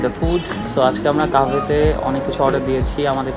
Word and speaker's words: Kahve: হ্যাঁ, কাভে actually pronunciation হচ্ছে ক্যাভে। সো এটা হচ্ছে Turkish Arabian word coffee, actually its meaning coffee.